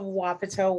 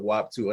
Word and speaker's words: Wapato: Thank you so much for joining us, the wonderful creator of Wapato Woman. Am I pronouncing that right? That's how I've been saying it. Okay, perfect. My mom pronounced it WAP 2 other day.